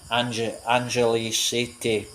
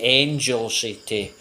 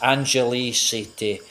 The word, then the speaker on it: Angeles City: I used to pronounce it Angel City. That's how I used to pronounce it, but I think it's Angeles City.